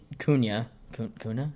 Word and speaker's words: Cunha: Okay, so I mean, Cunha.